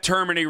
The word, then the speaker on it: Termine: at Termin Radio. That's how it's pronounced, but it's spelled Termine.